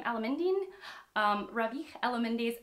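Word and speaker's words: Alameddine: i just learned how to say his name alamendine um ravi ella mindy is an unnecessary woman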